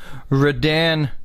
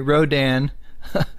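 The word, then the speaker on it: Rodan: on over here to the beauty himself uh radan sorry rodin i know right probably going to drive you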